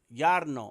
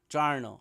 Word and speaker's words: Jarno: By the way, man's name is pronounced Yarno. Oh, okay. Yarno. The man's name, Harvey, Yarno. What did I say? Yarno. Jarno. Oh, I say Jarno. Did I say it with the hard J?